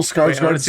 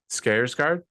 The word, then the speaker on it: Skarsgård: Long A would be Ard.